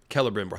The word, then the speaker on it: Celebrimbor: So I didn't mean to turn him into celery. He's very tall, but that's, Celebrimbor, thank you.